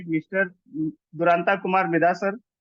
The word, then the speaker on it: Duranta: Bengali middle class family से belong करता हूँ, तो एक्चुअली प्रोनाउंसिएशन इसको बोलते हैं दुरंतो कहा जाता है। जैसे कि ममता दीदी अपना दुरंतो एक्सप्रेस चलाती है, या मतलब एक ट्रेन है यहाँ पे, ऐसी सेम नाम मेरा दुरंतो है।